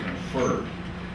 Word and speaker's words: confer: I'm gonna confer on stress on the second syllable please mark that confer however it is conference